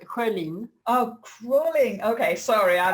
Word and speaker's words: Schölin: Yeah, it's not with two dots, so it's pronounced Schölin.